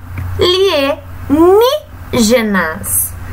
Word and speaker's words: alienígenas: Lembrando que toda vez que a palavra vem acentuada, nós já sabemos qual é a sílaba tônica. No caso, aqui é o ni.